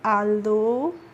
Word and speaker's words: although: तो ALTHOUGH को हम पढ़ेंगे आल्दो।